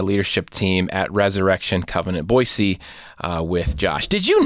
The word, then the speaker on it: Boise: a couple times and he kept saying boyy and I'm like you're saying your own City wrong no the rest of us say it wrong it's it's boisey with an S just like it's spelled the things you learn